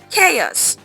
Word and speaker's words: chaos: The ch sounds like k. So, it's chaos.